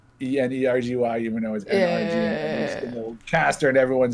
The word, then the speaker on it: NRG: originally so we got we started energy it's pronounced energy e-n-e-r-g-y even though caster and everyone says nrg and actually my co-founder is shaquille o'neal i